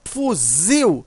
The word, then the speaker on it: fuzil: Quando você pronuncia fuzil, você observa que o zil, né, ele é mais forte. Veja, a sílaba tônica aqui é o zil.